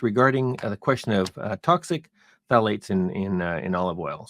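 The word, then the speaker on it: phthalates: Lisa and it's regarding the question of toxic Tates in in in olive oil so for those of you who need to know it's the Tates is is um uh is spelled p h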